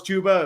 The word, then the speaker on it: Chuba: It's like saying you think Chuba Hubbard is pronounced Chubba Hubbard, and Oh, then when yeah. I found out it was Chuba, it was the saddest day of my life.